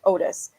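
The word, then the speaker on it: Ottis: say his name different it's spelled and looks like Otis but I've heard people say honest so I don't know I think I'm just gonna go with Otis both of the brothers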